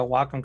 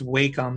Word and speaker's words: Wacom: goes by the way it's wacom not wacom so i mispronounced the